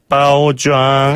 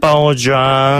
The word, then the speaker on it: 包装: 빠오장. 한 번 더. 빠오좌. 빠오장. 네. 포장이라는 그 한자 그대로를 중국식으로 발음하게 되면 빠오좌이고요. 예. 발음 조금 비슷한 편이죠.